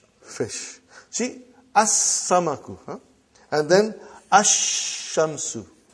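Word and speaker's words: الشمس: And then ashamsu. No al. No lamb. When I say I I I shouldn't say al. I say I should say no lamb.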